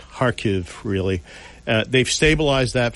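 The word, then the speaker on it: Kharkiv: stabilized the har front it's kha kiv pronounced harv really uh they've stabilized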